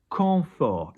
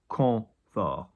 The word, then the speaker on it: confort: Confort, confort. We don't pronounce the T because we generally don't pronounce consonants at the end of a word if there's not a vowel after them, hence teint earlier.